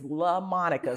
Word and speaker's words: LaMonica: Yes, my name is LaMonica. Say it right. Okay. You will say the same way you learned how to say Beyonce, who is one of the biggest stars in the world.